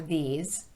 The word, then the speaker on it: these: I'll say the sentence one time, then just the phrase with the word this or these, and then I'll repeat the sentence.